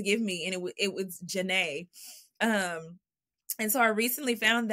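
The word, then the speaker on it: Jahnea: out that in Hebrew, Yane, which is the same as Janae, my middle name is spelled J-A-H-N-E-A. If you take off the J, because there is no J in Hebrew, and you put a Y, it means Yah shows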